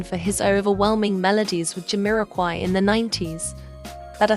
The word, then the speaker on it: Jamiroquai: Jamiroquai is pronounced Jamiroquai.